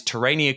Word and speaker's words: Terania: in tan Tania Creek am I pronounce right I say terania pretty sure it's terania yeah and so it's